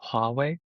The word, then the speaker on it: Huawei: and run it on Huawei hardware? Or whatever GPUs they can get their hands on. Yeah. So first of all, it's pronounced Huawei. There's an H in there.